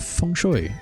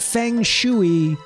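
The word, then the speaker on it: feng shui: It's built using the principles of funoy. Okay. Not fang shuy for those watching at home. Okay. It's spelled fangshy, but it's not fang. A shuy is what the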